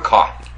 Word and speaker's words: Kotb: Hoda Kotb. K-O-T-B? Coffee. Coffee? Sounds like coffee. It looks like code. Hoda Kotb. Like corn on the cob. Hoda Kotb. And you say coffee. K-O-T-B?